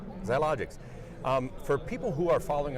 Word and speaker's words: Xiologix: My special guest is Sid Herron from Xiologix. And did I pronounce that yes, you did. properly? All right, Xiologix.